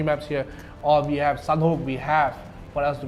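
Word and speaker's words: Sanhok: A Sunhook. Like hawk, closer to hawk. Miramar. Like almost like Myanmar, but not. Miramar. Yeah, Miramar. And Sunhook. Sunhook, closer to sun, like almost a bird.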